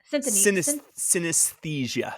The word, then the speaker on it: synesthesia: And one item is like a synesthesia item, which helps you to like feel and like see, like sense colors and things of that nature. Synesthesia.